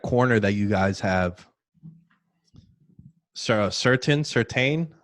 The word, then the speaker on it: Surtain: Certain?